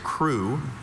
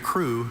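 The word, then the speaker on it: krewe: Your word is crew.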